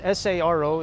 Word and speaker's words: Saro: It's S-A-R-O. It's Yeah. spelled the way you pronounce Right.